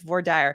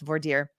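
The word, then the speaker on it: voir dire: you are in a Texas state court it's vire and I went to law school in Texas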